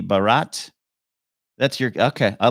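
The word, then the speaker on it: Bharat: that's your King's card BH a r a t but pronounced maybe Barat that's your okay I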